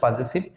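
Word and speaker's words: possessive: পসেসিভের actual উচ্চারণ পজেসিভ, পজেসিভ adjective.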